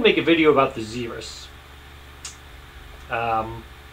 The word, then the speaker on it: xerus: learned is that it's not pronounced zebras it's pronounced zerus of course this being on an alpha chart